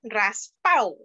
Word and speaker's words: raspado: And another dessert is the raspado. It's pronounced raspao.